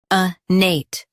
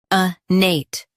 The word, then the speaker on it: innate: Today, we will learn how to pronounce the word shown on the screen. a nate Both US and UK have the same pronunciation of this word. a nate Now, read the syllables shown on the screen naturally.